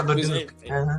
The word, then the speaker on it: Leduc: Don Leduc even said it that I was the first student to pronounce his name correctly. Thank God for French. That's true, yeah, Leduc.